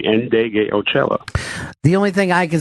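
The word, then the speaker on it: Ndegeocello: No, if you look at the name, you'd say it almost phonetically, Indegliocello.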